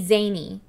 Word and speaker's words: Szany: Wendy Lee Szany. Yep, that's it. You just dropped the S and pronounced the Z.